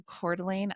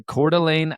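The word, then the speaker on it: Coeur d'Alene: So, we are moving to Cordelane, Idaho. We should do like a drum roll. I know. Maybe you can edit that in, right? We're moving to Cordelane, Idaho.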